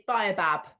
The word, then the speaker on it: baobab: So it's got, this is another one, I don't know how to pronounce. Baobab? It's Baobab. Baobab.